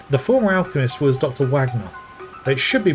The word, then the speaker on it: Wagner: Wagner. It should be pronounced vagna, but the uh the German pronunciations in this game are a little off.